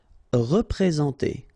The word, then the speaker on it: représenter: Représenter, alright, remember that you get this EN together, and then, well, it's a nasal, so it goes in your nose, and it's en, so représenter, représenter.